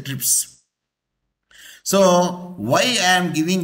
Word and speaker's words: TRIPS: See here, the S is added here, R is not added here because we can pronounce as a TRIPS.